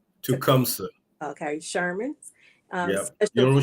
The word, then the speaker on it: Tecumseh: Tecumseh. Tecumseh.